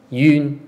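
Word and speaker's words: 蘊: Yun, which is the one you saw earlier. This is yun, pronounced as yun. And there's in. Yeah, in yun. Okay. There are two different ways to pronounce it.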